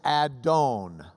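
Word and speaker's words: אדון: It was a word that in Hebrew is Adon. Adon. Say it. Adon. You can add I, unless you're Ashkenazi, in which you'd add oi, to the end. And you could say Adonai or Adonai, which means my Lord.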